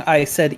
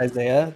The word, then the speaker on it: Isai: always mispronouncing my tag you know how long i said isai in my head before i knew i pronounced isaiah because i just just knew